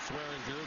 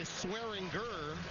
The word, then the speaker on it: Swearinger: DJ went by Swearinger a year ago, and like so many of the modern-day athletes, decided to go with the heavy G with the pronunciation of his name this season.